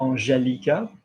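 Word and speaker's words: Angélica: So strictly speaking, AN will be en, like we've said before. There's an accent on the E, so Angé. Can you see that? Angelica, summer.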